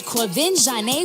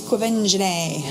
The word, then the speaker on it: Quvenzhané: Jamie Foxx welcomes the cast of Annie, including Oscar-nominated Quvenzhané Wallis, Bobby Cannavale, and Cameron Diaz, as they celebrate the release of their latest collaboration, Annie.